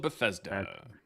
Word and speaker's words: Bethesda: It talks about people going to the that's Beth The Pool of Bethesda.